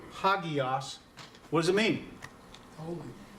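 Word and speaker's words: ἅγιος: how we pronounce it it puts an H in front of it ok so it's pronounced ha Geass what does it mean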